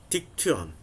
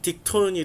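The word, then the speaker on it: δίκτυον: 딕투온. 발음하기 힘들다. 딕투온. 예. 빨리 읽으면 딕톤이 되겠죠.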